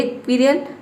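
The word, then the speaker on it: squirrel: अ क्विरल, इसको pronounce करेंगे क्विरल, एंड a Pappi.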